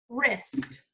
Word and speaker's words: wrist: looking at some words or in wrinkled its wrists this is my wrist wrist next one we're